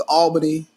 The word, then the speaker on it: Albany: what's the na the the proper North Georgia pronunciation is Albany but if you live down here it's ALB I ain't gonna say